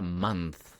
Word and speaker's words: month: Aquí tenemos la primera palabra, mes, que en inglés se escribe month con TH y se pronuncia month. La TH suena como Z.